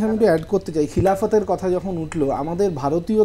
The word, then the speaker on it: খিলাফত: আচ্ছা একটা জিনিস আমি একটু অ্যাড করতে চাই খিলাফতের কথা যখন উঠলো আমাদের ভারতীয় দর্শকদের কাছে না এই খিলাফত কথাটা একটু আমরা ভুল বুঝি কারণ এটাকে আমরা